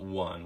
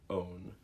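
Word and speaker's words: -one: over today are ketones ketones have suffix own not one we pronounce it own and if it's a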